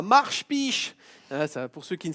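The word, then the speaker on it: Marspich: qui ne savent pas c'est un village qui s'écrit mashish mais nous on dit marche biche sais pas personne ne sait expliquer pourquoi mais c'est comme ça on a été le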